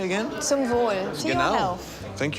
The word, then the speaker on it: Zum Wohl: Zum Wohl.